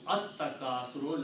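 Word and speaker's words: التكاثر: And when you pronounce AtTakasur, lam becomes silent in the pronunciation.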